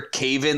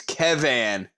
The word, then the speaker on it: Kevan: doesn't make any sense cave n that's how it's spelled cave n it's a van if anything but it's kev van it's kevan it's gonna be kavan and just because i'm